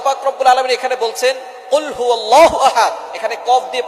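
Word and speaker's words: قُلْ هُوَ: আল্লাহ পাক রাব্বুল আলামন এখানে বলছেন কুলহু আল্লাহু আহাদ। এখানে কফ দিয়ে পড়ছেন কিন্তু অনেকেই ভুল করে উচ্চারণ সঠিক না হওয়ার কারণে তারা পড়ে কাফ দিয়ে। কুলহু আল্লাহ।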